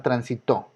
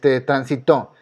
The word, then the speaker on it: transitó: Ya que tienen esta identificación, vamos a suponer que escucharon la palabra transitó. Lleva acento, pero ¿por qué lleva? Bueno, transitó. Se lo pongo tan sin saber por qué lleva acento. Entonces aquí cae la fuerza y es una palabra aguda, está en la primera y en la última.